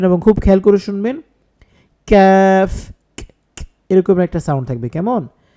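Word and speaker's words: ك: বলছি কাফ কফ এইভাবে তারপরে যে হরফ এটা হচ্ছে জিহ্বা একটু আগে বাড়াইয়া তারপর উপরের তালুর সাথে লাগাতে হবে উচ্চারণ হবে ক্যাফ এখন একটা জিনিস খেয়াল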